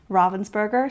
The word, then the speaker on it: Ravensburger: going off of the pronunciation that they use over on the North American Instagram. They say it a few different times where it is Ravensburger. I also met them when I was at Nationals. They also pronounced it Ravensburger.